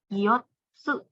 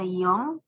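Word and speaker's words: 四: Terkadang dibaca yotsu, terkadang dibaca yong atau yo. Tergantung bagaimana nanti dia bergabung dengan kanjinya seperti apa. Lalu cara baca on-nya itu shi.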